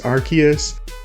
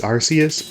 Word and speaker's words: Arceus: I know that the official English pronunciation is Arceus, and I could be one of those pedants who says, well, you know, in Japanese it's Arceus, but I'm just gonna be honest.